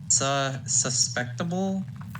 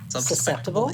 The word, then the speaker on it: susceptible: Susceptible? It's that fucking word. Susceptible. Yeah, that fucking word. Yeah, that word. I hate it. I can never spell it right. Because I think it's suspectable, but it's not.